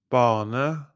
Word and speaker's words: bane: Bane, bane, bane, banne.